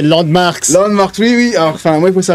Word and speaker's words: LANDMVRKS: Landmark. Mais non, c'est Landmarks.